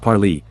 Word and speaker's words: Parley: Parley, pronounced Parley, is the spoken language